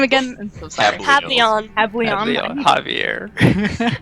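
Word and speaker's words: Hablion: Hableon. Havleon. Javier. Hab, H-A-B, Lion, but it's pronounced Leon. L-I-O-N.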